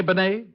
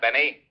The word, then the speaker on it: Benet: It's pronounced Benet, not Benny. That idiot was calling him Rennie Benny.